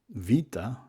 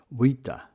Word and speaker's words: vita: So what you can see is that the the V uh vita would have been pronounced wita or verteb would have been eomo.